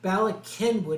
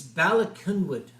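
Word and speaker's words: Bala Cynwyd: head fox says and then there's ball not balak Kenwood it's balak kinwood that's how it's pronounced it's balak kinwood balak kinwood in Welsh balak kinwood down in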